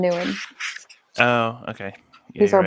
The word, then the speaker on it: Nguyen: Nguyen. Okay. Think of Nam from figure skating. Nam Nguyen.